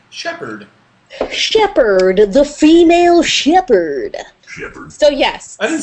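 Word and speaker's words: Shepard: shepherd shepherd the female Shepherd so yes I didn't say say it like uh an idiot I just said say Shepherd okay yeah but it's a female Shepherd it's two syllables shepherd shepherd anyway so yeah they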